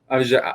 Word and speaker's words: Ojulari: Ojulari.